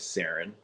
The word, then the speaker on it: Serign: My name is Sarin. And even when I was a kid, it was like hard for people to pronounce and with the spelling. And so even as a kid, I would tell people it's like serendipity.